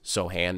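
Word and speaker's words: Sochan: really interested in these Sohan minutes soan minutes I've heard them pronounced both ways I tend to say soan I think I'm getting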